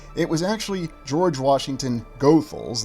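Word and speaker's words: Goethals: was actually George Washington gothal that's how the family says you pronounce that last name who was brought in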